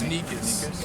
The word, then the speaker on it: Nicous: And they Pronounced introduced me. Nicous? It's Nicous.